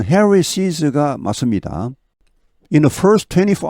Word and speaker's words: Harris's: 여기 발음은 Harris's가 맞습니다.